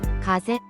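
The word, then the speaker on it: 風邪: 가제 감기 카제라고 발음하며 재는 타금입니다. 자행 발음의 중요한 예시입니다. 자와 재의 중간 정도의 소리를 목표로 연습해 보세요.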